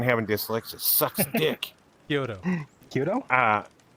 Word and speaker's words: Kyudo: I can't even pronounce his name. I hate fucking having dyslexia. It sucks dick. Kyudo. Kyudo? Kyudo.